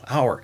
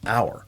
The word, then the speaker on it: hour: Some students see that H there and they want to pronounce it hour, hour. So I put a slash through the H and then say, hey, it sounds like hour. That's H is silent H.